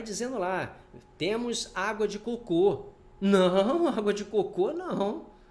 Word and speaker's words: cocô: cocô já é cocô Por que Que cocô tem acento porque é uma oxítona terminada em o aí ó cocô você não fala cocô é cocô tem gente que confunde cocô com coco eu já vi placa